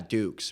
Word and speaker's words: Dux: Yeah, but Duke. it's spelled D-U. Yeah, Dukes, but it's spelled Frankie D-U-X.